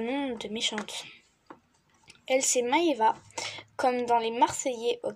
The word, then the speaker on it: Maëva: Elle, c'est Maëva, comme dans les Marseillais aux Caraïbes.